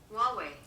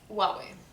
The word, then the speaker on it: Huawei: you never heard about it shame on you huawei huawei so that's how you say it i'm gonna